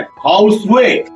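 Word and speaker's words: Khow suey: हमारे यहां जनरली खौसा बोलते हैं। कोई खौसे बोलता है। कोई खाऊसेऊ बोलता है। जो वर्मा में उसका असल प्रोनाउंसिएशन है। हाउ स्वे। हाउ स्वे। स्क्रीन पे आप देख रहे होंगे। स्पेलिंग स्क्रीन पे लिखा हुआ है। वो उसका रियल प्रोनाउंसिएशन है।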